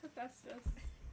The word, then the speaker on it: Hephaestus: Too tired for me to go, it's actually pronounced Hephaestus 6 times in class.